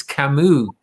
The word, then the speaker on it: Camus: the vineyard and say it's camus you know for god's sake it's not it's not famous um we're gonna head